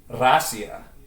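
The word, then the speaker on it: Россия: If I show you how Russia is pronounced in Russian, it's Racia. That's how to pronounce Russia. It looks like Poccna, backwards N and A. But it's pronounced Racia. That's how they say Russia.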